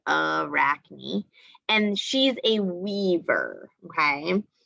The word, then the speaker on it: Arachne: we have arachne and they show you how to pronounce it arachne and she's a weaver